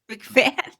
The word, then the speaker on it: McMahon: Sorry, I cannot pronounce it. McMahon.